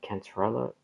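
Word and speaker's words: Cantarella: Cantrella?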